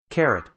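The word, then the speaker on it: caret: uh k for example that carot or how do you pronounce this all English pronunciation carrot carrot really like the vegetable carrot carrot okay sure in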